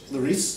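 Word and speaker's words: Leiris: Is it Michel Leris? Is that how you say it? Leris? You say that? Yes, okay.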